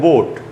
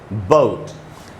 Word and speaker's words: boat: जैसे ये वर्ड है BOAT, बोट। तो इसको अपने यहाँ इंडिया में तो हम लोग पढ़ते हैं बोट। बोट एकदम गलत उच्चारण है इसका शुद्ध उच्चारण होगा बोट।